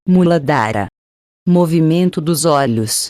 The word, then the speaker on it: Muladhara: Chakra básico ou primeiro centro psíquico, pronúncia-se Muladhara.